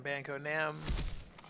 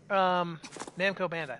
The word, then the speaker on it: Namco Bandai: newest Souls-like game from Banco Nam. Banco Nam? I'm saying it wrong. Anyway, Namco Bandai. That's what it is.